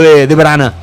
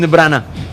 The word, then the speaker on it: De Bruyne: Pronunciar bien el apellido de Brana. Kevin de Brana.